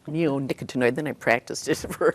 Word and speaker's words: neonicotinoid: Neonicotinoid. Neonicotinoid.